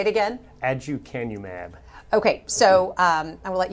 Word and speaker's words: aducanumab: I'm going to have you pronounce it, first of all. Aducanumab or Aduhelm. Okay, yeah. Say it again. Aducanumab.